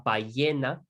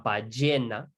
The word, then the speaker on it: ballena: Remember, we have double L's. That's another sound in Spanish, which is like a y or a j. Those are the most common ways to pronounce it. So la ballena or la ballena, right?